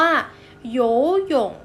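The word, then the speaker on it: 游泳: ภาษา จีน นะ คะ ว่าย น้ำ ออก เสียง ว่า โย ยง มี โย โย่ AB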